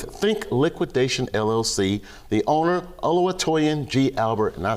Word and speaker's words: Oluwatoyin: sit down with Think Liquidation LLC, the owner Oluwatoyin G. Albert, and I said it right. Thank you very much. How's it going today? Thank you. Right. So not too many people, it's Toyin for short, if you wanted to know that.